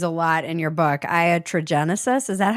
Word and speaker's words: iatrogenesis: Yeah, tell me about this word that you use a lot in your book, iatrogenesis.